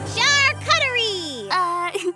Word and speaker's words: charcuterie: Charcuterie! It's pronounced charcuterie.